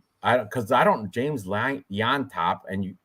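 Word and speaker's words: Llontop: because I don't James L yop and the L is silent the L's pronounced as a y it's annoying you know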